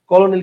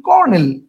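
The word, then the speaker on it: colonel: কলোনিল উচ্চারণ করলে আমরা আমরা তো আর কলোনেল উচ্চারণ করি না সবচেয়ে বড় কথা হচ্ছে এটা আমরা উচ্চারণ করি কি আমরা উচ্চারণ করি কর্নেল আমরা উচ্চারণ করি কর্নেল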